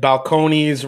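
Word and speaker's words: Balcones: Eric Waite said, balconies rhymes with jabroni.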